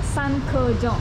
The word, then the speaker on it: Sankejong: Benar kan bacanya Sankejong? Sankejong. Iya dong, kan Sankejong. Oke.